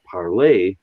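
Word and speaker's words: parler: so if i take p-a-r-l-e-r and i pronounce that parlay and somebody else hears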